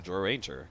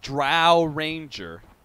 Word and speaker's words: Drow Ranger: you want I don't think you want the draw Ranger against that and if broodmother is mid that means don't put Broodmother or draw and remit or drow Ranger for those of you prefer the other pronunciation